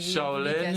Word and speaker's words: Charlène: Charlène, CH, comme ça se prononce. Comme Charles, mais au féminin.